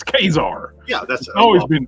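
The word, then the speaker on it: Ka-Zar: It's Kazar. Yeah, that's always been Kazar. It's well, if you read it phonetically, yeah, it's Kazar.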